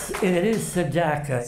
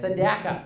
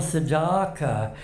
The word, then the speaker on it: Sedaka: And it is Sedaka. Sedaka. Rhymes with cracker. Forgive me. Because Frank Sinatra, they thought it was Neil Sedaka, but that's in Europe, they call me that.